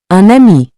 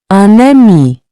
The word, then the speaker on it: un ami: Un ami. Notice how the N links to the vowel. Repeat after me to improve your pronunciation. Un ami. Un ami.